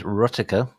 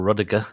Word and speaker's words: Ruddiger: His name is Ruddiger, or Ruddiger, if you want to pronounce it the American way.